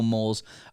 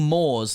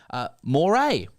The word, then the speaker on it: mores: The correct pronunciation in that context would be closer to the eel family, not para. Moray.